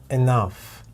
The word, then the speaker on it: enough: both let's find out we have two syllables with enough in the first syllable we have one sounds it's a short e which doesn't really sound like an e but that's the story for a different video in the second syllable we have three sounds short ah and now the stress is on the second syllable and you can see it over here by this little apostrophe Tata enough enough so why can enough